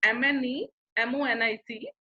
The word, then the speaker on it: mnemonic: Okay, although its spelling is MNEMONIC, but we pronounce it as mnemonic. M is silent here.